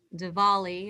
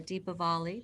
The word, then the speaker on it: Diwali: we can certainly use a deluge of light um i mentioned that diwali or deepavali depending on how you pronounce it uh is is a family it's